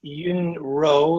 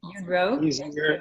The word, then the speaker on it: Yun Rou: So let's say that we could say Yun Rou, like row a boat. Okay. That would be Yun Rou. Easier and better, I think.